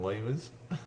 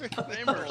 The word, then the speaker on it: lemurs: ever see Madagascar with the fucking lemurs? Yeah. The lemurs. What? Fucking lemurs. Lamers, you said lamers.